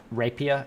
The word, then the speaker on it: Rapier: don't speak French so I pronounce it Rapier as in like um the sword that they have as